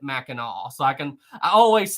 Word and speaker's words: Mackinac: go we're here on mackinac island because it's spelled mackinac even though you pronounce it mackinaw so i can i